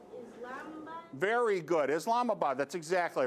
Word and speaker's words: Islamabad: I don't know how to pronounce it. Islamabad?